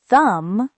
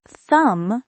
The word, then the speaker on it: thumb: Not thumb, but thumb, because the B is silent.